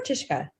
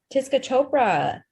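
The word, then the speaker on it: Tisca Chopra: Is it Tiska or Tishka? Tiska. Tiska? Tiska Chopra.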